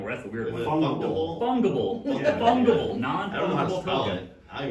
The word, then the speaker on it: fungible: Fungible. Yeah. Fungible. Non-fungible token. I don't know how to spell it. I don't know how to pronounce it for real. Fungus, but ible.